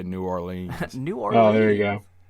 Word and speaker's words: New Orleans: But Nolans. Now live Is that how they say it? Yeah. Nolans? Yeah, New Orleans.